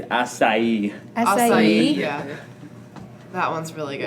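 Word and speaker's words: açaí: do enjoy is the Asi, however you pronounce that, refresher. Strawberry acai refresher. Oh, that's No, I I think I heard someone actually say it right. It's asai.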